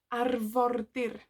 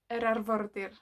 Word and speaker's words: arfordir: So the word for coast in Welsh is arfordir. Arfordir. Arfordir. Have a go. Arfordir. Again. Arfordir. So the coast is arfordir. Arfordir. Arfordir. If you can roll your R's, great. If not, don't worry.